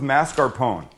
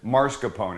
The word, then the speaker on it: mascarpone: s c a r everybody pronounces it or mispronounces it Marone it's not it's mascarpone and it's a triple